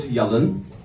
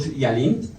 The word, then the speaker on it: Yalin: in my life so in turkish it's called yellen in english it's called yalin in spanish it's called chaling in czech it's called